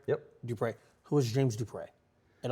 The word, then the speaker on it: Dupre: Dupre.